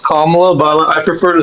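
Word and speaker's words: Kamala: And you're Yeah, it's pronounced Kamla, but I prefer to say Camala.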